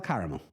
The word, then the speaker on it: caramel: Because like car, C-A-R. Yeah. Car. Amel. The A is silent.